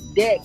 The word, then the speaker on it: Dak: Like, you really traded Dak away for a person. First of all, and also pronounce his name right. It's not Zach, it's Dak.